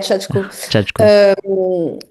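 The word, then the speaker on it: Shachko: Chatko, je le prononce bien. Ouais Chatko.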